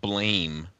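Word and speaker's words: BLAME!: So they're from an anime that's spelled Blame, but people seem to call it Blam.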